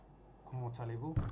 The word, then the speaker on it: comment allez-vous: Why do you say the T like it's talez-vous? That's a question I don't really get. Like, why isn't it comment? Because they don't pronounce the T when you just say comment. You just say comment whatever, right? But why is it with the allez-vous, it's talez-vous?